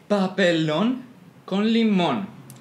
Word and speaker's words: Papelón con Limón: Papa Don come on how do you pronounce it again Jose pop alone con limón okay noble uncle Imam